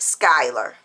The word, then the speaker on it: Schuyler: It is pronounced Schuyler.